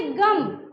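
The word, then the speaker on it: ग़म: जैसे मान लीजिए लिखेंगे गम, अगर इसमें नुक्ता नहीं है तो पढ़ेंगे गम, और अगर ये नुक्ता लग जाए नीचे तो पढ़ेंगे गम।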